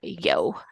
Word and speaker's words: Jo: we're gonna call her yo if not spelled Joe but pronounced Yo which is super cute um yeah yo because